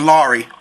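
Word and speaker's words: Larry: yeah it's a slow it's like a slow R you know what I'm saying like you let the r roll L okay all right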